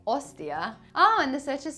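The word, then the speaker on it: hostia: why does Mannion say Ostia oh and the search is spelt wrong so that's because in Spanish you don't pronounce the H it is a silent letter like ins like in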